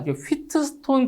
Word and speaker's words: 휘트스톤: 여섯 번째 휘스톤브릿지의 평행입니다 자이 용어 자체가 휘트 스톤 브릿지라고도 하고요 영어 발음이 차이니까 히스톤브릿지라고도 하는데 자 일단 가변저항 자